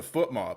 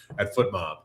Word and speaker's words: FotMob: be the SofaScore folks, or going to be our good friends at FootMob, or is it FotMob? See, that's the thing. I'm not sure how to say it. It's FOTMOB, but choose your own adventure with that one.